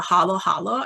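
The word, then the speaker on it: halo-halo: So I grew up in the Philippines and we have the summer treat called a halo halo, and it's just spelled like the word halo, but twice.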